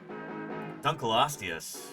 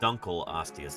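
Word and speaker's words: Dunkleosteus: Duncloius. And that is how it's actually pronounced. Dunl oius.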